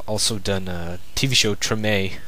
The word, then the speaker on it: Treme: It's sad, and they have also done a TV show, Treme, that I thought was Treem. It's like I thought it was Treem, but it's actually Treme. Thought you pronounced it Treem, but it's Treme.